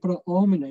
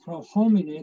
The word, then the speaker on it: pro homine: Includere pro omine, make sure, that they don't sing pro homine, there's no H in Latin. You don't pronounce H's, so it's pro omine.